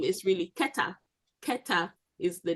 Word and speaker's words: Kohath: If you look at the Masoretic spelling of Kohath, you wouldn't pronounce it as Kohath if you read it. There's no indication that it should be pronounced as Kohath.